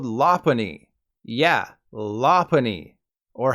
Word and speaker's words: Lopunny: Ball Z damn Americans you probably think Ludwig's favorite Pokemon is pronounced lopunny like someone telling a quiet joke but that didn't make too much sense the Lola Bunny equivalent for Pokemon fans is actually called lapani yeah lapani or how